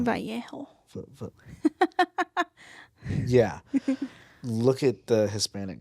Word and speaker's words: Vallejo: Like they found him face down with the letter in his hand to the Navajo press newspaper company, whatever, or Vallejo, I think, not Navajo. Vallejo.